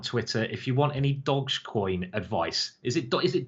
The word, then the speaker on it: Dogecoin: him out on Twitter if you want any dogcoin advice is it is it Dogecoin or dogcoin um Lewis you can shout in my ear how do you pronounce it Dogecoin Dogecoin okay Dogecoin if you want any Dogecoin